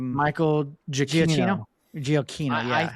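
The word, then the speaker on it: Giacchino: Oh yeah, the Michael um Michael Jakino. Gio. Yeah, I think I've been saying it wrong because the guy that introduced him said Jakino. I've been pronouncing it Gino.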